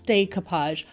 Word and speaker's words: decoupage: the way I pronounce decoupage. I am in Canada, so I do pronounce it a little bit differently. Decoupage is a French word, and I do live in a French-speaking country, so I guess that's